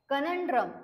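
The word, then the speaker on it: conundrum: पश्चाताप next word आहे कनड्रम सी एन य एन डी आर य एम याच प्रोनन्सशन कस करायच आहे कनड्रम ओके सो कनड्रमचा काय मिनिंग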